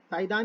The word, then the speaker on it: Saidan: साइदान bracket में victim, ये नाम के स्पेलिंग बता दो। साई बाबा है, साई बाबा, SAI, साई दान, DAN। क्या पढ़ोगे इसको? साइदान ही पढ़ेंगे, साइदान ही पढ़ते हैं इसको।